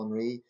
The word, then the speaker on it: Henry: I know to compound matters, the current president, Ariel Henry, I think that's a silent H with the French, is said to be complicit in the assassination of former President Juvenal Moise, in 2021.